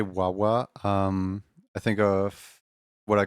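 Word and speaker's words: ワンワン: Every time you say Wawa, I think of what I call my dog nickname. I call him Wan Wan. The N is silent, as it's the dog's bark sound in Japanese.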